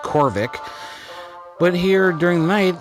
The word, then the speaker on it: Khoryv: I basically walked around the area and waited till it became nighttime, so then we could come back here to it's pronounced Khoryv.